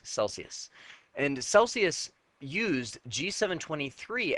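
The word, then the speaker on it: Selsius: else they actually bought a company called Celsius spelled with an S Celsius and Celsius used g7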